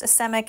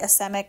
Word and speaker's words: asemic: technique called asemic writing I've heard it pronounced asemic and Asic and I prefer to say asemic so that's what we're going to go with so what that is